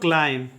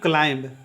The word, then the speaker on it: climb: इस प्रकार से नेक्स्ट देखिए, फिर एम के बाद बी आया है तो बी क्या होगा? साइलेंट होगा। ठीक है, तो इसको पढ़ेंगे हम लोग क्लाइम। CLIMB का उच्चारण करेंगे क्लाइम, नहीं कि ना कि क्लाइंब। ठीक है, और क्लाइम का मतलब होता है चढ़ना।